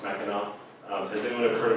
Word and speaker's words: Mackinac: This word here is pronounced Mackinac.